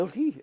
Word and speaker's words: Yilti: ilti, or Ah. Yilti, Y-I-L-T-I. Oh, yeah. Ilti, they pronounce it.